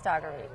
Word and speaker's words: Dougherty: And which is funny because it looks like Daugherty, but it is Dougherty.